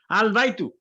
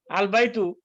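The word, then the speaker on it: البيت: হ্যাঁ, এটা হইলো আল বাইতু। আল বাইতু, এই যে আলের এখানে কিন্তু এই লাম will be pronounced এই লামটা প্রনাউন্স হবে।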